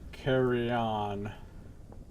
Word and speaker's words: Carillon: Carry on is like how you'd pronounce it if you pronounce it like Spanish. Because LL would be an Lye, which is pronounced like a Y. Carry on. It's the Spanish pronunciation.